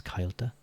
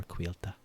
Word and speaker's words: Cailte: and um like in in some parts it can be pronounced um as kyta but I prefer quila I think it sounds